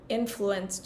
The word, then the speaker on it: influenced: Not influenced you, but influenced you. Right. Influenced Influenced you. Yeah, the the emphasis is on the second syllable. Yeah, which is weird.